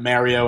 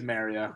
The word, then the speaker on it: Mario: It's got Mario out. It is actually really appealing over there. Oh, your northeastern pronunciation of Mario. No, that's the Italian. It's not northeastern.